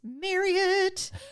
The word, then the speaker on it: Marriott: It's Marriott."